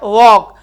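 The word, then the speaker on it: walk: हैं सी आर वॉक व ए एल के एल साइलेंट है वर वॉक सेंटेंस गलत हो गया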